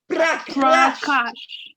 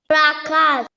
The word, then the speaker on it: Prakash: Prakash. Prakash. Just say I say cash like the money cash.